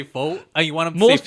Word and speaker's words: pho: I think with faux and pho, it's a really big thing where it's socially. I think most people will say faux.